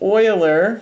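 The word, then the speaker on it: Euler: with it o your Oiler that's how you say it Oilers it became Oilers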